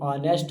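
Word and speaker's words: honest: H silent होता है इवर्स like ऑनेस्ट एच ओ एन ई एस टी जिसे हम लोग नेस्ट भी बोल देते हैं वो ऑनेस्ट होता है आवर एच ओ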